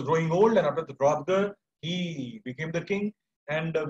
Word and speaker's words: Hrothgar: And after him, Hrothgar, H-R-O-T-H-G-A-R, Hrothgar, we also pronounce him as Hrothgar.